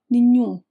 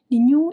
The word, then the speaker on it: nenhum: Normally the queen meaning the stressed syllable, the part you hear the most, is on the second to last syllable. So, you would expect something like nenhum, but that A gets swallowed. It's almost mute. The strong part is actually the end except the end is nasal.